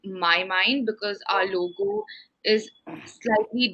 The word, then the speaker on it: Mynd: mndd yeah so ask when you pronounce it it's actually my mind because our logo is slightly different it's not just mind it's when you read it out it's actually my mind but yes we were